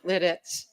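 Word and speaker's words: Lititz: I grew up in Lidditz, Pennsylvania. And pronounced that way, by the way. Lidditz, yes, not the other way.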